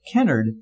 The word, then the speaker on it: Kennard: canard came from the village which we know now as Kennard Nebraska don't ask me why we pronounce his name canard with the city's name Kennard I don't know I don't know that anybody does but mr.